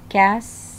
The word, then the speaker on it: castle: Three, castle. T is not pronounced.